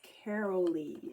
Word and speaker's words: Carol-Lee: It's Carol-Lee. It's like Carol with 2 E's is how you say it.